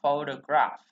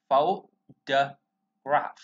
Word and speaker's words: photograph: Chữ O này nó không được nhấn ha, nó chuyển về ơ, chưa? Chấm một cái gr là phụ âm, đem xuống âm này là âm e, bành miệng, chúng ta bành cơ miệng mình ra. Ok, bh thấy đem xuống, chúng ta sẽ đọc từ này là photograph, photograph, photograph.